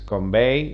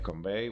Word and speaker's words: Convai: Combine pronuncias convey, o sea que ya sabemos que en vez de Combine es convey.